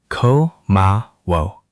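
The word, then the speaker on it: 고마워: Now, one thing, the ah at the end should feel rounded, like you're almost making a small o shape with your lips. Try once more. Ko ma wo.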